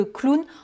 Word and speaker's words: clown: Qui sait où est le nez du clown? Hein. Et je précise que clown, on ne dit pas clown en anglais, on prononce clown.